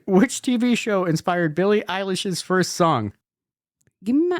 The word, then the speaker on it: Eilish: Billie Eyelash. Yeah, that's it. Okay. Wow. Billie, how do you say it? Billie Eilish. Eilish.